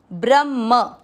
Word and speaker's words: ब्रह्म: पहला चरण ब्र। ब्र का अर्थ होता है ब आधा और र पूरा। इसके बाद में है ह आधा और ह के अंदर है म पूरा। ब्रह्म, म के साथ आधा अण तो ब्रह्मण यो, ब्रह्मण्यो।